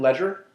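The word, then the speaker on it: Legere: How do you pronounce his last name? Ledger? Ledger, yeah.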